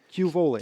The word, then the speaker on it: Q'vole: Am I pronouncing that right? Quole. Culet Q. Cule.